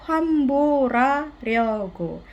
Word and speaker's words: 환불하려고: Ini bacanya adalah 환불하려고, bukan 환불하려고, bukan.